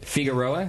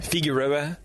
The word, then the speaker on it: Figueroa: the program with us is that how you pronounce it I guess how do you say it how how did you say it figuroa figuroa you just you put a little you put